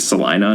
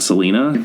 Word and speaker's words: Selina: By the way, the only reason I know it's pronounced Selina is because that line was lifted from the book and put into the adaptation, and the actress pronounced it Selina, not Selena.